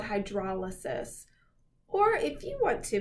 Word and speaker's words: hydrolysis: The opposite of this is a special type of catabolic reaction called hydrolysis. Or if you want to mispronounce it, you can call it hydrolysis.